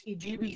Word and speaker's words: Idube: Yeah, basically it's Idubee Photo Safaris, and it's spelled IDUBE Photo Safaris, IDUBE PHOTO Safaris.